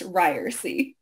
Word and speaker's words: Ryerse: the hardest question and that is how to pronounce our name and it's ryy my name is ryy I'm sorry yeah that's